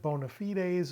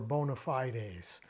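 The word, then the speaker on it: bona fides: that serves as uh depending on how you want to pronounce it bonafides or Bonafide Ace right this is the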